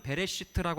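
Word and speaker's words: בראשית: 창세기 1장 1절인데 태초에 히브리어를 그대로 발음을 하면 베레스트라고 하는 단어입니다 근데 특이한게 있어요이 히브리어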